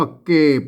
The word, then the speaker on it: เก็บ: ครับ มา เห็น มั้ย มัน จะ ออก เสียง เอก นะ ครับ มา อ่าน ว่า เกบ นะ ครับ เก็บ มา เนี่ย